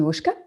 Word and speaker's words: Wushke: here to meet christine wushka and am i actually pronouncing your surname right um i i that is correct also yeah no it's